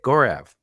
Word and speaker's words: Gaurav: to my conversation with gorev how's it going gorev going great Joe thanks for saying my name right oh I was just